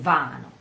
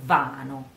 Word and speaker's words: vano: The stress is on the A, in vano, A, on the A.